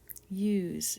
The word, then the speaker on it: use: is you use and it says spelled with s because we often use s to spell the z sound at the end of a word use but i need a silent e to make the u say u otherwise it would say us we want use next